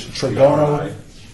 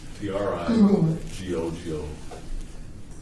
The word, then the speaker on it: Tregono: did you say, because you said triangle. Can we let the deputy clerk spell it exactly correctly? Yeah, It's yeah. It's Tregono. Trigogo. Tregono. Okay. Tregono Hills Park.